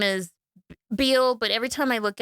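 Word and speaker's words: Bele: dude's on the bridge and his name is Beal but every time I look at it I want to say ble because it's spelled b l e I wrote it in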